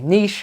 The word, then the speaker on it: niche: a very specific um Niche or Niche we say Niche Americans say Niche and he's able to